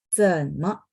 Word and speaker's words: 怎么: 怎么? 怎nya 3 ya. Jadi diayun dulu baru nyambung ke sampingnya ya. 怎么? 怎么? Me-nya pendek dan ringan. Teman-teman lihat nggak ada tanda ya.